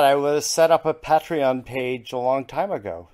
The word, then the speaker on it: Patreon: was set up a patreon page a long time ago is that how you say it that's really patriotic I don't know yeah a tree on yeah thank you that's it that's a we so